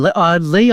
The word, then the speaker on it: Ley: Susan Lee, I think it's pronounced as.